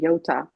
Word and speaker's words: Yota: Also, phonetically, it's the same, Yota.